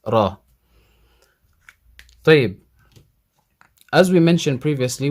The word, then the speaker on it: ر: light zai light but with the raw you can see or you can hear that it sounds heavy sigh sorry raw raw raw